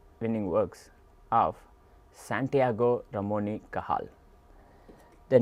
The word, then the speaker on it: Cajal: works of Santiago ramoni kahal the name kahal is spelled c a j a l but is pronounced kahal kah that is how